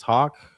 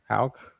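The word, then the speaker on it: Haugh: Uh I think he means Hawk. Hauk. Either way, maybe I can't pronounce it. H A U G H. I only know how to spell it. Yeah. But, yeah, it does definitely sound like K.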